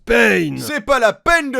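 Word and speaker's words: Pain: cad ce qu'est ben ça se prononce payne c'est pas la peine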